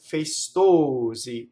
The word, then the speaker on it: festosi: So the stressed vowel is the O, right? It's a three-syllable word, festosi. And you see where the accent is, it's on O, right?